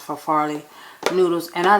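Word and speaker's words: farfalle: uh farfet for Folly I always call it for fail but it's I think it's pronounced for Farley noodles and I like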